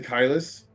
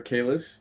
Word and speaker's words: Kylus: This is probably a bad idea, but we're gonna fly up to Kylus. Sorry, Kalis. I'll get there. It was Kylus. I know. I said it right the first time.